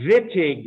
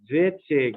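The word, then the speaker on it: Wittig: that's called the the vitig reaction somebody you're gonna read about the vitig reaction foreign say it like it's a double v uh most countries in the world that's how they say that letter by the way if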